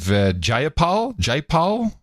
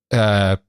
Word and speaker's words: Jayapal: She is Representative Jayapal. How do you spell it? PAYPAL. PayPal. Miss PayPal. Jayapal. JAYAPAL. But you look at the word, you just want to say PayPal every time you see it.